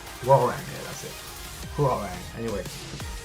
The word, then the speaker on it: Hwoarang: So we're tackling Hwoarang, because I saw some of the votes on the previous videos.